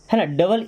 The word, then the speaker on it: need: जैसे NEED, तो एन को हम लिखते हैं ना, फिर डबल ई है तो बड़ी ई की मात्रा लगाएंगे और डी से बन जाएगा ड। ये हो गया नीड।